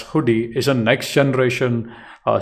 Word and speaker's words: Hudi: is Apache hoodi uh as you know Apache hoodi uh pronounced as hoodie is a Next Generation